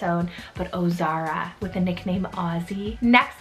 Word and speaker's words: Ozara: similar with the oh beginning is the name ozara spell o z a r a o zara